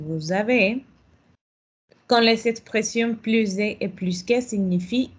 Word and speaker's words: plus: Cuando es negación, cuando es la cantidad cero, on ne prononce plus.